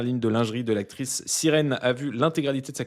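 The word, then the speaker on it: SYRN: Origine personnelle, Sirène, prononcée Sirène comme sirène en anglais.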